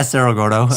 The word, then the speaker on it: Cerro Gordo: So the town is Serero Gordo. That's that's the How do you That's how do you say the American version? Is it just Sarra Gordto? Yeah, Sarraordo is usually how I say it, which is